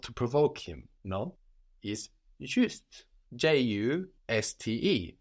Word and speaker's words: juste: provoke him, no, is juste. J-U-S-T-E. So spelled just like the English, but with an E on the end to let us know to pronounce that final consonant.